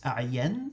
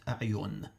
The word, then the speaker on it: A'yan: I'd like to point out the correct pronunciation of the name of Zurara's father is A'yan and not A'yun.